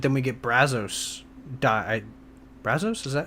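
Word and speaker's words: Brasso: Brazos, is that how you say his name?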